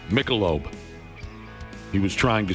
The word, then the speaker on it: Michelob: Yesterday we talked about how he couldn't pronounce Michelob.